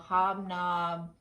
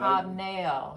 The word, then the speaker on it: hobnail: Okay, our next items they're called hobnob. Am I saying that right? I believe you're saying it right. Hobnail.